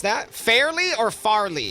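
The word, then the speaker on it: Fairleigh: yeah I was gonna say how do you pronounce that fairly or Farley Farley yeah I've heard people say fair dick as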